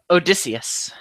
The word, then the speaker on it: Odysseus: How do you pronounce that? Odysseus. Odysseus.